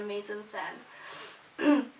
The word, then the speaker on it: mise-en-scène: go on to choose many aspects for the mise-en-scène.